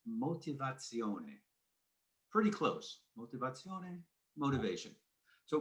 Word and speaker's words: motivazione: And in Italy, it's pronounced motivazione.